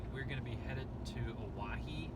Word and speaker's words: Owyhee: gonna be headed to Hawaii I think it's how it's pronounced it sounds a lot like Hawaii but it's so it's on